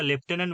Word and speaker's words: lieutenant: আমরা প্রথমেই পেয়ে গেছি, দেখো লিউটেন্যান্ট উচ্চারণটা লেফটেন্যান্ট বলি, তা উচ্চারণটা মানে বানানটা কি হবে, লিউটেন্যান্ট, LIEUTENANT।